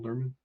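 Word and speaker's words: Lerman: particular as well as Logan lurman is how you say his name Logan lurman yeah Lan lurman yeah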